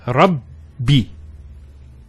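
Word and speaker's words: رَبِّي: The first ba takes a sukoon. And the second text say kasra. So it's Rabbi. So you notice actually that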